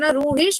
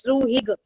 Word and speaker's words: ruhig: And I hope you know this word is having two pronunciation, ruhish as well as ruhig. Like according to the origin, according to the region in Germany, the pronunciation changes.